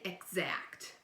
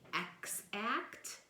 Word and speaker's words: exact: them using syllable division we say exact exact that the point that you are making exact all right or right here in this exact spot all right a specific all right place location something specific something exact we don't say x-act all right but once you've